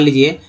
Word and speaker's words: lodge: जैसे मान लीजिए LODGE लॉज, इसमें D यहाँ क्या है? साइलेंट कर दिया गया है ना, लॉज।